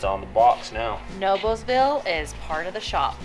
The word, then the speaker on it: Noblesville: Noblesville, There you go, Noblesville.